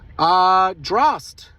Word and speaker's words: Drost: Drost. Drost rhymes with Frost.